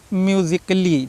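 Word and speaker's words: musically: हमको ध्यान रखना है यदि ए के बाद डबल एल वाई आए तो क्या होता है ए साइलेंट हो जाता है ठीक है हमेशा ध्यान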